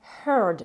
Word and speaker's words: heard: mais au prétérit, c'est heard. Et ce EA, il se prononce toujours, là il se prononce différemment, il se prononce avec le son choix.